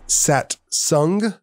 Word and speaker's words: Satsang: miss this is my great friend the musician sat sung which is actually spelled satsang but pronounced satsang and it's drew mcmanus he over